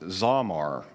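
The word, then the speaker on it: זמר: Well, in Hebrew, sing, or this particular translation of sing, is found 45 times, and it's pronounced zamar, to sing.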